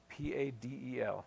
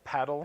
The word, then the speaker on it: padel: P A D E L. So, paddle padel padell. I think there's both ways.